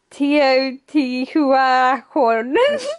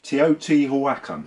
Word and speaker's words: Teotihuacan: Teotihuacan. That's not bad. Teotihuacan, I believe, is how it is in the original language, of obviously which I am fluent. Teotihuacan.